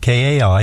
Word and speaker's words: Kai: today is Kay, spelled K-A-I. Am I saying it correctly? It's Kai. Kai, I'm sorry. Kai as Anderson.